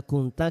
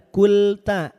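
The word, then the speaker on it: كنت: ya Maryamu innallaha yub Cara baca kunta kenapa seolah ada huruf lamnya? Enggak ada huruf lamnya, Bunda Nur ya. KL kul enggak ada kulta. Kulta itulah kenapa nun itu punya dengung. Beda dengan lam. Makhrajnya memang berdekatan lam nun ro. Tapi dari sisi sifatnya berbeda. Makanya bunyinya akan berbeda.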